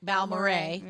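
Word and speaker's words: Balmorhea: Balmorray.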